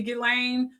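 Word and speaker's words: Ghislaine: a theory connecting to Gileain Maxwell because the S is silent apparently in her name Jeffrey Epstein and Maline McCain disappearance.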